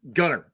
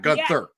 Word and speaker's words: Gunter: And you got it's Gunner. You got to spell it right. Gunner, not Gunther.